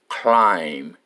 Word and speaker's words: climb: climb the fence okay the word climb we only pronounce c l I m climb and b e t silent we don't say anything about it we only pronounce climb we climb the fan